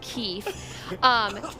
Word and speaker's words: Keeth: And Keith is spelled Keeth, pronounced Keith.